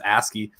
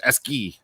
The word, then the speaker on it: ASCII: hammering me they're like it's actually not ascii it's esky and like it's so funny how people pronounce it in different areas and but the cool